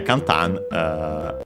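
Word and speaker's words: 簡単: Yeah, kantan is an adjective, unaccented.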